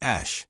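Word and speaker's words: Æ: The letter X, then AE, pronounced ash, and then A12.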